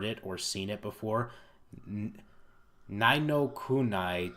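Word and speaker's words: Ni no Kuni: Nino Kunai 2, Revenant Kingdom. Nino Kuni, is that how it's pronounced?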